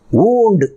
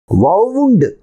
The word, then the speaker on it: wound: ஊண்டு அப்படின்ட்டு.